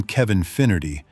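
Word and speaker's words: Kevin Finnerty: The name Kevin Finerity is pronounced in a way that sounds when you listen carefully like the word infinity.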